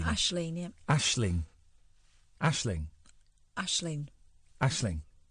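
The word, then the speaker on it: Aisling: Ashling. Ashling.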